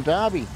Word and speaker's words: Derby: Derby, for a dyslexic person, is spelled D-A-R-B-Y. Because that's how it sounds. Yeah. But in real life, just to mix us up, but to put an E in it instead of an A.